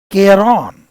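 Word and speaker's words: Charon: लिख लेना आप लोग इन रिवर को पार करने के लिए एक फरी मैन है जिसका नाम है केरोन इसका प्रोनाउंसिएशन ध्यान रखना मैं अच्छे से देख कर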